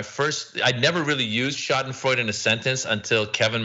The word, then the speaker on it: Schadenfreude: No, you said, is it Schadenfreude? How do you pronounce that word? Schadenfreude. Schadenfreude. Taking pleasure in the displeasure of others or the pain of others. Yeah, Schadenfreude.